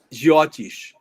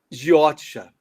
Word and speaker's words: Jyotish: Algumas grafias colocam Jyotisha ou Jyotisa, depende da pronúncia mais do norte ou mais rigorosa do sânscrito clássico, arcaico, com o já, entre aspas, modernizado.